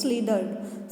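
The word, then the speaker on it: slithered: अब यहाँ पे जो स्लिथर्ड वर्ड दिया हुआ है, वैसे इसको द प्रोनाउंस करेंगे, मीन्स स्लीडर्ड।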